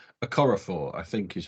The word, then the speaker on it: Okorafor: I think it's Okorafor, I think is how you pronounce. Yes. Certainly the surname. Chukwumi Okorafor.